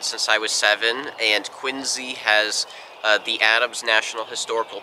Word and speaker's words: Quincy: first ladies up in quincy massachusetts which by the way is pronounced with a z sound like a zoo or zipper it's not quincy and everybody says quincy